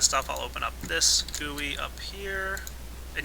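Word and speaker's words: GUI: I'll open up this gooey up here and yes it's pronounced gooey couple people commented last time I said gooey that's how it's pronounced I'm not kidding I'm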